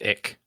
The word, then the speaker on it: ich: So, and I think that's pronounced ick.